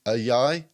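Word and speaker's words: Ayayi: So on Tuesday, the Orlando Magic announced that we've signed free agent Joel Ajay. Close enough, mate. Correct me. No, happy with your pronunciation there.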